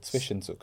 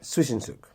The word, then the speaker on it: Zwischenzug: How do you say it? I'm not German, but Zwischenzug. Zwischenzug, that's the word.